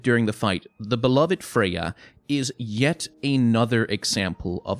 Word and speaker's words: Freja: That was the Duke's dear Freja. Or Freja. If you were to pronounce that in Danish, F-R-E-J-A, it would be Freja.